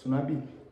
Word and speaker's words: Sonwabile: Sunabi. Yeah. Say it again. Sunabi. Sunabi. Sunabi. Cause I like it. But Sunabi, English. Sonabile.